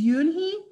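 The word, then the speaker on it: Unhei: turning around it was joey your name is yoonhi he asked with her with his eyes open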